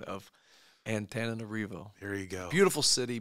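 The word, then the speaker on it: Antananarivo: several variations that led us to the correct pronunciation of ant arivo there you go beautiful city Beautiful People great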